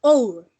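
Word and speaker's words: hour: Pero en este caso, como la H no suena, entonces usted pronunciaría our, ¿sí? Entonces la O que le sigue sería una vocal, porque la H viene siendo muda o viene siendo silenciosa, ¿sí? A diferencia de house, porque house sí lo pronuncio, sí, esa H sí se escucha y our no se escucha, ella es silenciosa, ¿sí?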